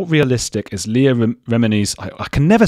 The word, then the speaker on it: Remini: how realistic is Leah remini's I can never say her name what is it again Chris yeah remedy Leah Remini you put it on the first syllable remedy uh Leah remini's documentary